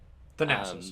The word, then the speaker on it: Thanasis: Thanasis. Thanasis, yep.